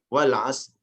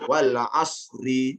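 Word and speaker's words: والعصر: Sama seperti wal asr, ya juga wal asr. Ada yang bacanya malah wal asri katanya gitu kan.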